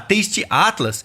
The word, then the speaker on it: Taste Atlas: moqueca e se vocês procurarem no site da Taste Atlas eles também listaram os bares e restaurantes que eles indicam tasty Atlas se escreve t a s t e a t l a s Taste Atlas ó eu quero chamar vocês agora